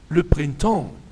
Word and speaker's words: le printemps: الخريف ولو برينتون الربيع لو برينتون ما تنطقش البي والاس لا البي والاس تنطق يبقى تاني في سور